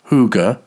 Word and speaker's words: hygge: The Danish word, pronounced hygge, is usually translated into English as cosiness.